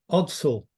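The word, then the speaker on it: Ordsall: several of these and this is enough it's pronounced I think I'm right here odd Soul that's right yeah at the locals that's the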